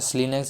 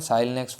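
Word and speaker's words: SLINEX: है, तो याद है स्लीनेक्स इज द करेक्ट है। साइलनेक्स वो पता नहीं क्यों कन्फ्यूजन करते हैं एग्जामिनर कैंडिडेट को, आई डोंट नो, बट जो रियल जो है इसकी प्रोनाउंसिएशन भी स्लीनेक्स भी होती है ना, स्लीनेक्स ही होती है।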